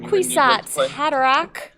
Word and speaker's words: Kwisatz Haderach: You want to pronounce that? Kwisatz Haderach.